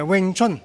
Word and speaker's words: Wing Chun: yeah oh did I say it correctly yeah Wing Chun wi Chun okay so wi Chun is uh